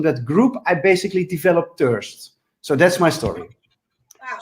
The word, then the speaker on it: Thursd: I'm Dutch, so I'm not a native English speaker, so I always say thirst.